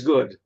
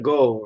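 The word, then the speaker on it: Gogh: Vincent Van Go of Van Hawk, if you pronounce it as the Dutchwood, he painted a lot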